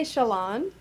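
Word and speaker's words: Shallan: I say Shalon and Yasna because the J to me reads like a Spanish J.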